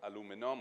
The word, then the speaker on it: aluminum: It's then sold, smelted into aluminum or aluminium, whichever pronunciation you prefer.